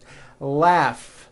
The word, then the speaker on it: laugh: Laugh. Notice the GH combination in that word. Laugh.